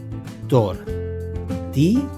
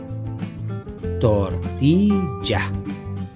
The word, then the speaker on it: tortilla: So how do you pronounce this? Very easy. Tortilla. Tortilla. Tortilla.